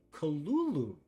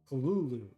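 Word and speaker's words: Cthulhu: let's see Lovecraft transcribed the pronunciation is Kul Kulu first syllable pronounced guttery and very thickly Kulu the U about that in full C first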